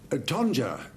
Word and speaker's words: tonja: Tonja, as it's pronounced, it can also be spelt T-O-N-J-A.